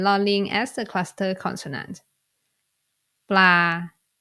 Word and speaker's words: ปลา: ปลา So you need to pronounce it in the middle tone because of ปอปลา tone rule.